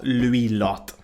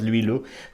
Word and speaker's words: Louis Lot: quickly well Rock up Louis lot no I pronounce that terribly I am so sorry to all my friends followers or anyone friends watching I do speak French and I know it's Louie Lou but Louis a lot is what we know